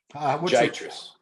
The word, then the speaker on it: Giatras: Giatras.